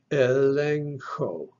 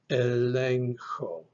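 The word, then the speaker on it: ἐλέγχω: All right, the epsilon makes a short E sound like eh. Lambda makes an L sound, la. The next epsilon makes an eh sound. Then we have our combination, gamma, he, going to be followed by an O for the omega. So this word is pronounced elencho, elencho.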